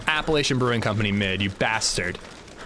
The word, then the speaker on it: Appalachian: Am I pronouncing it wrong? Appalachian. I feel like that's a right way to pronounce it. Appalachin is like like the the like you live in the in the Appalaches.